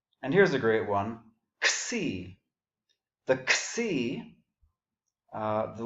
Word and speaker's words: xi: If you went to college with fraternities, you're probably used to saying xi, but it's actually xi, and we're going to run into that several more times.